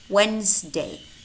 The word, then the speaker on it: Wednesday: it's always spelled D however we do have words which contain the letter D but it's silent as in hand kerchief handkerchief Wednesday Wednesday handsome handsome ma'am ma'am I said yes